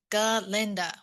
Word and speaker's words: Galinda: And Glinda's like, it's not Glinda, it's Galinda with a G.